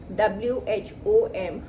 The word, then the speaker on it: whom: Replace हो जाता है वहां पर whom से, WHOM, और इसको प्रोनाउंस करते हैं whom।